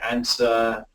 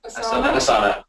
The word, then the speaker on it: Asana: Some people just like to use a spreadsheet, others want to use Trello, others want to use, is it Answer? Is it Answer? Asana.